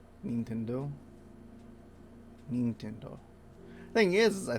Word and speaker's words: Nintendo: is it being central most english speakers pronounce this name in a way that sounds very foreign to the japanese ear and the usual english pronunciation the first part of the name rhymes with pin mean with a short i sound however in japanese it's pronounced nin yeah okay because in japanese though i is always pronounced the same way regardless of what happens to follow it so nintendo nintendo nintendo